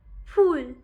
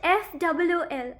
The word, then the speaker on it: ফুল: সে তার পায় নিত্যের ভঙ্গে ফুল তোলে রঙ্গে ফুল not FOOL. I'll tell more than the difference between the pronunciation of FOO.